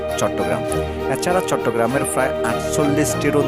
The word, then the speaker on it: চট্টগ্রাম: এই নামটি গ্রহণ করেন ছাটিগাঁও এর সংস্কৃত উচ্চারণ চট্টগ্রাম এছাড়া চট্টগ্রামের প্রায় 48